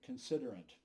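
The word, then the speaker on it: Considerant: for you c-o-n-s-i-d-e-r-a-n-t when i see french words i have a tendency to pronounce them in french victor considerate were the source of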